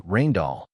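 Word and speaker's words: Rijndael: In 2001, Rainall pronounced roughly Rainall was selected as the new advanced encryption standard.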